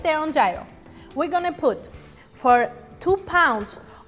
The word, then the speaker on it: gyro: pork gyro pronounced gyro in Greece which means to turn